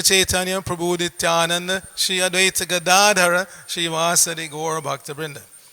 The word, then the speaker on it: Gadadhara: about how to pronounce Gadadhar, but it's there on the screen. It's Gada, long A, Dara, not Gadadhar. There's no long A in Dhara, it's Dara. Gadadhara.